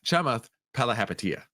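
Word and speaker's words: Chamath Palihapitiya: It's Chamath Palahapatia.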